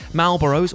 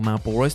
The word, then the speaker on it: Malboro: into another person's ear marlboros or malboros depending on your preference in pronunciation's bad breath has the